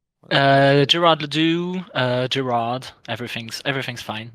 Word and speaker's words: Gerard le Doux: five and how do you say your name gerardly uh Gerard Ladue uh Gerard everything's everything's fine no worries uh